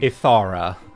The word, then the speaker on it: Ithara: You've been saying Etharin, right? How to say it? About to ask the same thing. Ithara.